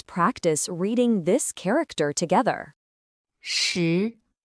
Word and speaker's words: 石: Its pronunciation is she.